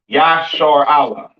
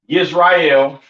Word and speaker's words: Israel: This is how you pronounce Israel in the ancient Hebrew. Yah, Yashar Allah. All right. Not Yisrael, not Yasharal, and a lot of other weird names that how you pronounce Yashar Allah or Israel in English.